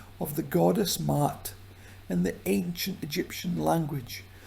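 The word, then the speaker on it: Ma'at: And what we pronounce as Matt, we pronounce two letters. A. It's not like that. The first a is short and the second is long and deaf.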